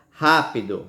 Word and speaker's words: rápido: Você pode notar que nós falamos com mais força, certo? A antepenúltima sílaba dessa palavra, não foi, ó? Fígado e é rápido, certo? Fale fígado. Você não vê que é a antepenúltima sílaba mais forte?